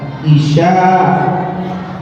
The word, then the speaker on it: Isya: Ibu, cara nyebut nama Nabi Isa jangan tertukar dengan nama sholat Isya. Bahasa Arab ini beda cara baca, beda arti. Kalau nama sholat Ain, Shin, Hamzah, Isya. Kalau nama Nabi Ain, Ya, Sin, Isa. Beda-beda. Jangan sampai salah.